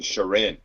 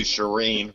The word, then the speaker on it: Shireen: time so I should did I get it right that there you think Shireen or Sharin yeah I think I've been saying Sharin yeah now that you say that I think you might have been yeah so I'm moving to Shireen which I think is the more appropriate pronunciation and uh I don't